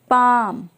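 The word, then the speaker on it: palm: हम नकल बोलते हैं एल आमज या अमज बाम पाम इस तरह के सभी सेंटेंसेस में एल का साउंड साइलेंट होता है जब भी एल के बाद एम आता है वहां पे हम एल को साइलेंट रखते हैं आमज मींस होता है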